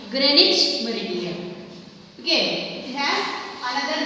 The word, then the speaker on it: Greenwich: It is written in your textbook in this way, but we need to pronounce is Greenwich. Okay, Greenwich.